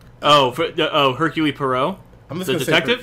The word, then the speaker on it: Poirot: I did need other people to go Poirot.